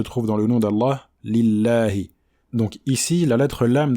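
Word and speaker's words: لله: Donc on dit lillahi. Alhamdulillahi et non pas lillahi. On ne dit pas alhamdulillahi. Alhamdulillahi. D'accord? Donc c'est un prolongement de 2 temps.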